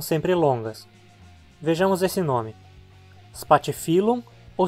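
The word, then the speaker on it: Spathiphyllum: esse nome espatifilo ou espatifilo nós se separamos as sílabas termos parte seu nome assim como no português com dois r e dois s no latim também duas consoantes iguais juntas sempre ficam em sílabas separadas assim a penúltima sílaba é fio é a terminar em consoante portanto a palavra paroxítona parte filão e agora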